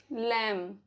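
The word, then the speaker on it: lamb: B silent रहता है after M, before T. For example, लैम, डम, थम, प्लमर, टूम्ब, वूम।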